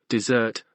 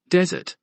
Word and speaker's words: desert: khed got the word desert the sweet Heavenly thing right but he said it with the emphasis in the wrong place and the word sounded like desert a dry perilous place this is just one